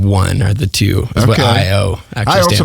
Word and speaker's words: i_o: lot going on in there and the proper pronunciation is i o i oh yeah okay very cool so tell us a